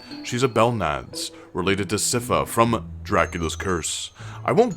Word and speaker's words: Sypha: And if you're going to come down on me in the comments about my pronunciation of Siffa, feel free to pretend I called her Sypha instead, so that it fits into your nerdy Netflix universal continuity. It's Siffa though, if you're curious.